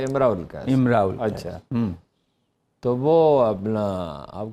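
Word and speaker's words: امرؤ القيس: نامور عربی شاعر ہیں۔ امراء القیس، عرب کہتے ہیں کہ تلفظ جو ہے امراء القیس۔ اچھا، تو وہ اپنا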